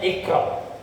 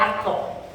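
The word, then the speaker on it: اقرأ: Contohnya Iqra, dibacanya Aqra, maka itu bukan Al-Quran. Karena Al-Quran itu bacanya Iqra, bukan Aqra.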